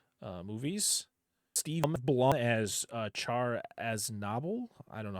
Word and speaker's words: Char: after yours came out, they kept calling him Char. That's not his name. It's Char. It's not how it's pronounced at all.